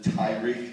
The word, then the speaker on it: Tariq: the script it's like it's written as uh tariq joe specifically pronounces it tyrique during that city we